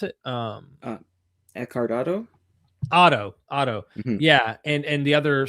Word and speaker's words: Otto: And when you're explaining John Day, when you're explaining, Otho, is it Otho? Is that how you pronounce it? Eckhart Otto? Otto.